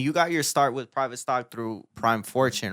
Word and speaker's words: PVTSTCK: what is Pivot stick that's what people call Private Stock when they walk in cuz that's crazy cuz they see how it's spelled they're like oh yeah I've been the pivot stick I'm like it's Private Stock literacy rates are falling